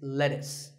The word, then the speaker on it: lettuce: I know the spelling looks like it's lettuce, but it's not. It's lettuce.